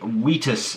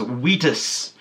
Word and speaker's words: Vitus: picked up is the wetus figure now i understand it says vitus right here but this is obviously a latin name and in latin all these are pronounced as w's so it's wetus that's what i'm saying